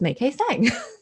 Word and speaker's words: Mai-kee Tsang: But no, when we speak English, it's Mai-kee Tsang.